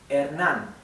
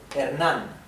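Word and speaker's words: Hernán: Okay so the E the H is mute as I said before the letter e is flat a the letter a is flat ah ernan the the m is typical M and the r I'll talk about the r in a minute okay so keep in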